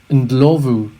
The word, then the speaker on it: Ndlovu: was referred to as when in fact the pronunciation of his name is closer to indlovu which is what you think you would go